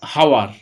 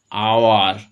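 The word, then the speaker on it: hour: দেখো আমরা বলি না এইচ ও ইউ আর হাওয়ার, হাওয়ার হলে হ উচ্চারণ হতো, তাহলে কিন্তু এ হতো। আমরা উচ্চারণে কি বলি, আওয়ার, আ উচ্চারণ হচ্ছে, তাই অ্যান।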